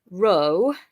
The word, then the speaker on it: rho: Then confusingly, this one that looks like a P, an English P, is actually rho, which is r in English.